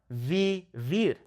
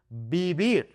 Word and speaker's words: vivir: But 99% of the time, B and V make the same sound. So this word is not vivir. That is incorrect. It is vivir. That soft B sound, okay?